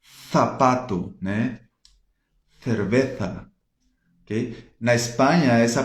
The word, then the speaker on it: cerveza: Se for da Espanha, ela vai pronunciar como se tivesse a língua presa, assim, né? Z, zapato, né? Cerveza, ok?